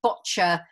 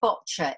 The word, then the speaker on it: Boccia: But the actual name boccia is derived from an Italian word and an Italian game, probably pronounced bocce.